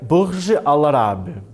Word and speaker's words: Burj Al Arab: O que é Burj Al Arab? Sabe se pronuncia assim, né?